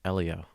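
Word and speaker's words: Hélio: actually had or actually that's technically pronounced Elio ad like the pizza so onto the breakdowns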